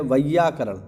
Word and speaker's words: वैयाकरण: जानता है वह है वैयाकरण ध्यान रखना इसका उच्चारण वैयाकरण जो विज्ञान को जानता